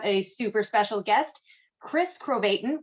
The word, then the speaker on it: Krovatin: super special guest chris crobaton rhymes with satan uh author journalist works